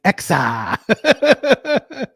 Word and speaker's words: X: In the mutant vernacular, X is pronounced both X like normies and Exa.